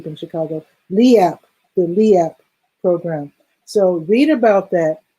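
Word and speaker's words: LIEAP: about the let me see if i can pronounce it correctly leap program um l-i-e-a-p low-income energy assistance program it's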